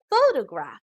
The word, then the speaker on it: photograph: syllables faux toe graph the emphasis or stress is given on the first syllable so we pronounce this as photograph now compare this to